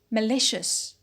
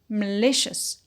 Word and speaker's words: malicious: add the suffix ious it becomes malicious malicious so what happened a shift in the stress and a change in vowel quality in the first syllable map becomes m and